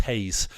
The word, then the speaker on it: Reis: squad we've got VTO Hayes apparently it's pronounced Haze seriously with h you